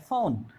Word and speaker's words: phone: जैसे for example PHONE, तो इसको क्या बोलते हैं, फोन। तो ई साइलेंट रहेगा, पहले फ की आवाज आ गई, फिर हमारा क्या आएगा, औ, फिर हमारी न की आवाज दे रही है, फोन।